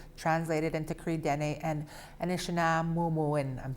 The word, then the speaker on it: Nunavummiut: And I believe the proper way to say it is Nunavummiut, and that's basically Ojibwe.